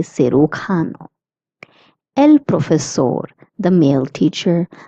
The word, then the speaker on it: cirujano: J is pronounced as K, hence we say cirujano.